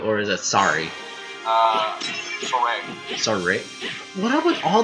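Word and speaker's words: Sorey: Okay, and how do you pronounce Sori's name? Like that? Sori? Or is it Sari?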